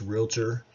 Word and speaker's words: Realtor: local Realtor Association and notice that I said it's realtor and it only has one A and two syllables and I know how